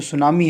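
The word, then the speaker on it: tsunami: जापानी भाषा का जो सुनामी है ये शब्द है। ठीक है, टी सुनामी, टी साइलेंट होता है, ऐसे लिखा सुनामी। ठीक है, ऐसे लिखा जाता है सुनामी। ठीक, टी जो है ये साइलेंट रहता है, और ये कैसा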